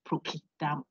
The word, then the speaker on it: procedamus: The correct pronunciation I'm told by the Latin was procedamus. The C is K.